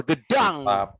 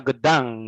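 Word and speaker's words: Gdańsk: Oke, nih langsung aja nih kita ke inti dari konten, yaitu kita akan membahas Road to Final Gedang. Yoi. Bacanya bener-bener kan bacanya Gedang ya?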